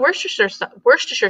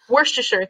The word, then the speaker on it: Worcestershire: And everybody's so used to saying like Worcestershire, no, not, but it's Worcestershire, Worcestershire. Worcestershire sauce.